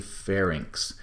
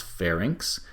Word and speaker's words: pharynx: throat as the pharynx i think people need to show some caution and pronunciation of this one sometimes people mispronounce pharynx and larynx and when they do so they often end up misspelling them so it's inks in the end of this and we can see